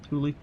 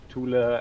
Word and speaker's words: Thule: I mean, my American accent. I'm not going to try to exactly get the right accent, but Thule Society. I mean, you speak English, you just Germany. pronounce it English.